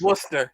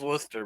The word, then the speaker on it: Worcester: watch a show from rooster Massachusetts probably I think it was Superstar it was Worcester it was Worcester masser oh if you pronounce that in the southern accent though it sounds roer yeah see we went